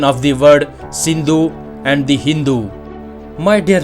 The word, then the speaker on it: Sindhu: Indus river, and also few countries people pronounce this Sindhu river as the Hindu river. Both the words or the names like Indus, Hindu are same but mispronounced, that is the incorrectly pronounced words of the Sanskrit language, that is the Sindhu river.